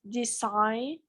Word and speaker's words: designed: statue of liberty was designed designing it when when you pronounce design you pronounce like a final d design design this time don't design it no designed observe the only cases